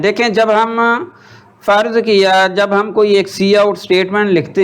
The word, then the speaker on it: cout: और ये जो सी आउट है इसकी प्रोनाउंसिएशन क्या होती है, जो मैं बोल रहा हूँ सी आउट, SEEOUT, सी आउट।